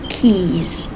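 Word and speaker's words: quays: St steps and ladders I think that's pronounced Keys q u a y s m steps and ladders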